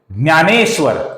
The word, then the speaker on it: ज्ञानेश्वर: इसका उच्चारण हम मराठी में करते हैं तो उसका उच्चारण हम करते हैं न्य, DNYA। जैसे कि हम मराठी उसको क्या बोलते हैं, ज्ञानेश्वर, इस प्रकार हम बोलते हैं।